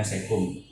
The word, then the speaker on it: caecum: Caecum. Bacanya cecum.